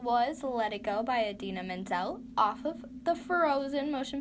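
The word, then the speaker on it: Idina Menzel: or wow adina mendel at least i didn't mess that up as bad as uh john travolta at the oscars when he said adele nazim anyway a din adina mendel i know how to say her name uh from frozen because you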